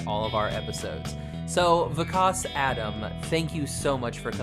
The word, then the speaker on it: Vikas: So it's Vikas, actually. Vikas. See, I was like, I'm either going to get it Vikas, or I was like, I could be pronouncing it wrong and be like Vikas. But I was like, how should I do it? So Vikas. The best way to remember it is the Wizard of Oz.